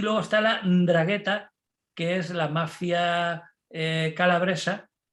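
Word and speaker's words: 'Ndrangheta: el juicio a la ndragheta ndragheta en bragueta que es eso vamos ndragheta con g h tea y una n con un apóstrofe ahí es que bueno italia como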